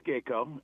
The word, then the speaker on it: Gaco: that geko or G am I saying it right gaco Geo uh roof cating no no it's it's correct it's geeko uh and there there's